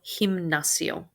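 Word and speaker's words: gimnasio: word exam in it this letter g is pronounced like an h el himnacio el lapis we've had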